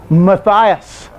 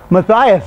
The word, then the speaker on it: Matthias: That's Matthias. Matthias, that was. Now, when you get to the Greek, here the I's are pronounced as I's, not E's like it is in Hebrew. Okay? So, Matthias.